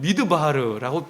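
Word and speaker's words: מִדְבָּר: 여러분, 히브리어로요 광야를 뭐라고 하냐면 미드바르라고 발음을 합니다.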